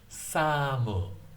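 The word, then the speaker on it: サム: So my name in Japanese is, right here, and then. Samu, Samu.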